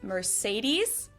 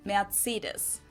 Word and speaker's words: Mercedes: in Germany um so most Americans call this Mercedes in German we pronounce it Mercedes so Mercedes versus matus mates so it's really